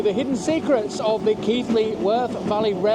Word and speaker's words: Keighley: that always ask me it's pronounced keithly not key all that smoke